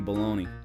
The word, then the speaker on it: Baloney: The man they called Baloney. Baloney, and you better not mispronounce it. They call me Mickey the Meatball. That's me right there. I was the muscle. Mr. Bologna! Mr. Bologna! It's baloney. Sorry, sir.